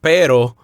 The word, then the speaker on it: pero: It only has one R, so the roll sound is not as strong and not as long. So pero or perro. Now, when you say pero, P-E-R-O, it sounds like your tongue is only flapping against the roof of your mouth one time, almost like a D sound, like pero.